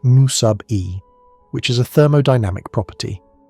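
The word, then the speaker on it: μe: Another important term is the chemical potential, symbolized as Me, pronounced mu sub E, which is a thermodynamic property.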